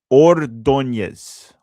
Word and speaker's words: Ordóñez: Gonna try to pronounce it to the best of my ability here. It's Ordóñez.